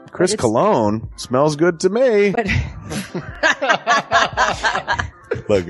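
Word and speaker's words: Colon: It is a self-published book by Christopher Cologne. Chris Cologne?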